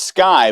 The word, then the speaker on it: SQAI: His company is pronounced Sky, but spelled S Q AI.